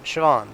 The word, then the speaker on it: Siobhan: the high call uh goodness y'all just helped me with this sh vaughn siobhan thank you i i really need to learn that uh you know the irish pronunciations from high above the